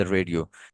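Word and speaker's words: read: आई रीड pronunciation में यानी present simple में आई रीड कहेंगे, मगर जब हम पास्ट टेंस फॉर्म इसकी लगाएंगे तो ये बन जाएगा आई रेड।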